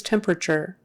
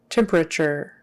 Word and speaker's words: temperature: have you checked his temperature temperature so temperature temperature the biggest accent is on the first one the second is on